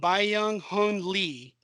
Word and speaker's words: Byung Hun Lee: Byung Hun Lee.